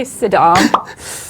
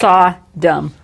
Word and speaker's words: Sodom: Yeah, she can't say Saddam. S. No, she can't. Just remember the emphasis is on the first syllable, not the second. Sodom. Yes. Sodom, not Saddam.